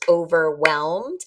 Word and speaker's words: overwhelmed: Or overwhelmed, which is 3 syllables, overwhelmed. And we have WH is really pronounced these days like W.